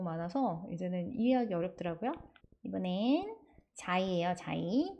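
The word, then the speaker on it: Xi: 이번엔 자이예요, 자이. 이게 왜 자이냐? X인데 X는 X 발음 나는데 그쵸? 근데 X가 자이, 이 발음도 나요. 그래서 저희 실로폰이 아니라 xylophone, xylophone 이렇게 발음하거든요.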